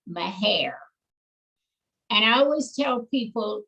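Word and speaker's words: Mexia: family grew up in the community that's called my hair and i always tell people if you are a texan or if you are from that area you call that little community my hair if you're not then you pronounce it as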